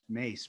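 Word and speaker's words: Myss: can provide like carolyn mace who's who watched the carolyn mace thing it's actually pronounced mace but spelled like this i was studying her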